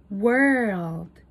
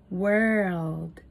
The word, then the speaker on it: world: 比较看看两者的发音差异：word, word, world, world，多了一个 o 的发音哦。